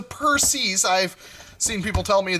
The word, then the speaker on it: Perses: And no, it's not Perseus, it is the Perses.